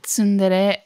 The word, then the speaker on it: tsundere: Or however that's pronounced? Tsundere.